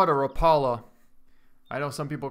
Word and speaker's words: Rapala: bit funny when you call it a Rapala instead of a Rapallo they actually pronounce it like rap rap all what I mean everyone has